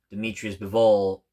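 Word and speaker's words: Dmitry Bivol: And then he lost to Dimitri Bivol. That's how you properly pronounce it, at the 170s.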